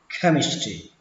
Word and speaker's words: chemistry: Mặc dù ở đây nó ghi là âm trờ nhưng mà cách đọc của nó là âm khờ, chemistry.